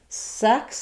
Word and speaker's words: sex: Sex is going to have the k and s sounds at the end. And so we have a different vowel, the eh vowel, and then a s sound, ks, for the end of it.